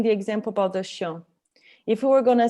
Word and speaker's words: chien: And disons c'est pas chien, you don't say chiens, right? It's Chien, chien. Chien.